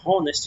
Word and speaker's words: honest: Então aqui nós temos o H mudo, esse honest, a gente não pronuncia honest, sim honest.